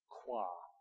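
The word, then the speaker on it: Croix: order of the Rose how do you pronounce that c r o iix qua you're so good you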